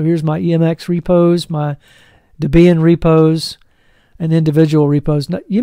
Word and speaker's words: Debian: was ian and so they combined their first names deb and ian and so that's debian or now it's called debian but it's debian which is really the way it should be pronounced mx repos here so